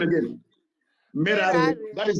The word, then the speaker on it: Merari: Merari. That is how you. That's how you pronounce it.